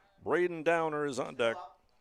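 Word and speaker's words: Dauner: Downer is spelled D A U N E R.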